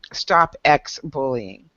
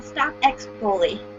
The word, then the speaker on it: Stop X Bully: So go in and follow Bree over there at her Stop X Bullying. Right? Did I say it right? No, Stop X Bully.